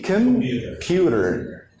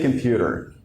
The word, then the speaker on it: computer: Here, we say computer. And we don't stress this first sound, we say computer. So it's as if saying pewter, but pewter. So you don't put any stress on the first syllable.